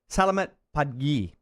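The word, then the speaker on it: Selamat pagi: Salamat Pagi.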